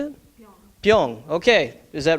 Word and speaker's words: 병: Pyong. Okay. Is that right? Yep. The word for bottle is pyong in Korean.